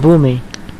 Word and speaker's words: Boomy: Yeah, you know, Boomy.